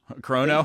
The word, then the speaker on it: Qrono: Currono chrono chrono chrono chrono like a watch almost like a chronograph. Think of it that way.